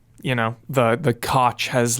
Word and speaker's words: Koch: like literally like just about how to pronounce their name in different territories. And then in there he said Koch if you're in North America.